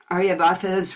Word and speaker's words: Aryabhata: So this is Mathi Sutra, and I went down tell me if I mispronounce this ancient mathematician Aryabhata's writing. Oh, that was an excellent pronunciation. Kudos. Because it was like, my first thought was 108.